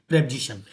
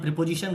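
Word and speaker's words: preposition: पहले तो मैं आपको बता दूं कि अधिकतर लोग इसका उच्चारण प्रीपोजिशन करते हैं, तो इसका सही उच्चारण प्रीपोजिशन ना हो करके प्रेपोजिशन होता है, इसलिए उसका उच्चारण आप सही कर लें, क्योंकि ज़्यादातर लोग इसका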